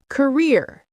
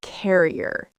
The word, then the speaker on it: career: Career. Career, not carrier.